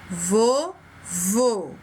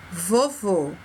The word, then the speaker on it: vovô: Vovô. Vendo aqui o exemplo, vovô. Uma sílaba fechada. Próximo, lâmina. Lâmina. Um som fechado.